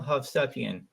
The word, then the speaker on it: Hovsepian: investing today on the show we have havian how are you doing today I'm doing